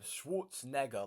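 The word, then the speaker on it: Schwarzenegger: it does yeah literally Schwarz that's how you pronounce his name Schwarz neger like one of I want to make sure I say neger but like one of the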